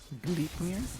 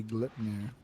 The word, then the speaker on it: Gleipnir: Gleipnir? Yes. That's how it's actually supposed to be pronounced. That's not true that when you buy it, they say Gleipnir.